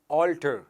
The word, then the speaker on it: alter: ALTER, इसका उच्चारण है ऑल्टर, और दूसरा वर्ड मेरे पास है ALTAR, इसका उच्चारण है ऑल्टर।